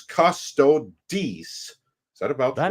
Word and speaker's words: Custodes: narrating these super chats, T-Neil89 points out Andre pronunciation here is Custodes. Is that about that right, is correct. Arch? Okay. Custodes.